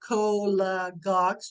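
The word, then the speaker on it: cholagogues: of carminatives okay uh I have divided this word up here col gogs just so you know how to pronounce it hello hello uh this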